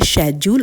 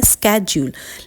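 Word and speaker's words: schedule: Friends शेड्यूल को आप दो डिफरेंट एक्सेंट में प्रोनाउंस कर सकते हैं। एक होता है शेड्यूल और एक होता है स्ेड्यूल। लेकिन लास्ट में हमेशा जूल जो है वो कॉमन ही होगा। इसे ड्यूल नहीं पढ़ेंगे।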